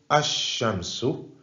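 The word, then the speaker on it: الشمس: Et là, cette fois-ci, on ne prononcera pas le lam de l'article. Donc, c'est le reste des 14 lettres que nous n'avons pas vues dans la catégorie précédente. Exemple, Ash-Shamsu.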